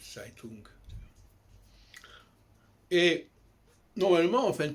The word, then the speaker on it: Zeitung: Vous savez que dans beaucoup de langues, notamment en allemand, le Z se prononce Tz. Herzl, Herz. Zeitschrift, Zeitung.